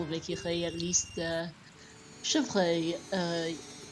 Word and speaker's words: chevreuil: I think I spelled the correct number of vowels in the second part, in the last syllable of Ikirei, at least. Chevreuil, Chevreuil is deer.